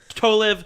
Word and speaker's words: Tolev: My guest today, Steph Tolev. Am I saying that right? Yeah, Tolev, right?